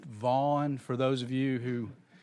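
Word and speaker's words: Gant: The last name is spelled G-A-N-T, but it's actually pronounced Vaughn for those of you who...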